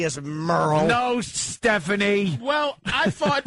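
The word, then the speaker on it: Merle: There is no way this is Merrill because it's M E R L E. It's Merl. It's Merl.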